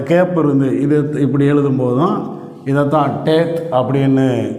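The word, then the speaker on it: טית: ஆனா இத ஜாயின் பண்ணாம இடையில கேப் விட்டுரும் அப்ப இந்த கேப் இருந்து இப்படி எழுதும்போதுதான் இததான் டேத் அப்படின்னு உச்சரிக்கிறோம் இந்த டேத் என்கிற எழுத்து சாத்தானை அடையாளப்படுத்துகிற எழுத்தாக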